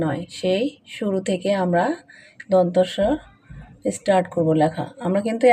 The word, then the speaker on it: দন্ত স: দন্ত স, তার মানে কি? এটা জিহ্বার আগাটা আমাদের দাঁতের সাথে লাগে, এটা হলো দন্ত বর্ণ।